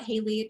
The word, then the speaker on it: Haleigh: um my name is Haley my first name is spelled with a G so I don't blame anyone who says it wrong the first time um I am an